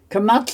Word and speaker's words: kamatz: Kamatz is like a long A sound, so it's kamatz.